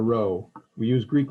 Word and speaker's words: rho: correlation coefficient but it's this guy and we pronounce it rho it looks like a script p it's the greek letter rho we use greek letters for population parameters in